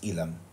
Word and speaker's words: Elam: elam entrance but in in English literature we pronounce it as ilam now sa tagalog elam